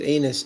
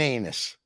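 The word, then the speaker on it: Anis: pronouncing your name right which is anus a-n-i-s what's your name that would be on this not anus that's in English I don't know what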